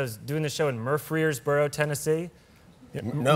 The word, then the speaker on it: Murfreesboro: early 20s, I was doing this show in Murfreesboro, Tennessee. No. Murfreesboro. I'm pronouncing it correctly. Okay. I'm not mispronouncing it. You're not, That's no. That's how it's pronounced. That's a place. Murfreesboro.